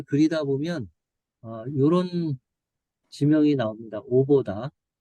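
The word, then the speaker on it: Avdat: 오보다. 영어 발음으로는 이제 아브답이라고 하는데, 요 오보다가 그 이스라엘의 내셔널 국립공원이 한, 한 50여 군데 될까요?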